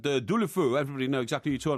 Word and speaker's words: Deulofeu: It's Deulofeu. Believe He's me. struggling with that surname. Believe me, I know these things. If you're in Spain now and you said Deulofeu, everybody know exactly what you're talking about.